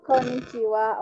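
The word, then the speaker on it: こんにちは: Hai Solihin Konnichiwa Hai Konnichiwa oke tulisannya Hai ya minasan di akhir tapi dibaca Wak gitu Kenapa Jadi sebetulnya dalam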